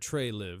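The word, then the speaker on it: Treliving: Brad Trey Living, pronounced as Brad Trey Live, spoke publicly as the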